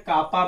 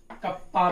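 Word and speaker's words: kappa: कुछ लोग कप्पा बोलते हैं, कापा भी बोल सकते हो, कोई दिक्कत नहीं है। के बनाया ना कभी के, तो के की एक लाइन थोड़ी बड़ी कर देना, कापा बन जाएगा। ऐसे लोग प्रोनाउंसिएशन कप्पा भी बोलते हैं। क्या बोलते हैं बेटा? कप्पा। पर थोड़ा मुझे आसान लगता है कापा बोलना, तो मैं कापा बोलता हूं।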